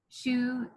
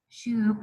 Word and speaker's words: choux: before see how it's it's spelled funny c h u x SHO Cheo or Sho paste it's a French word shoe P shoe um and